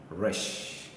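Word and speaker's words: ר: r so this is R sound R sound rush anytime you see it it's Rush it's not Direct you see the way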